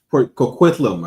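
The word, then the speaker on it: Port Coquitlam: family of pig farmers in Port, how you pronounce that city? Port uh Port Kquitlam, I think.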